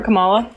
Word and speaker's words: Kamala: ask why you guys are voting for Kamala?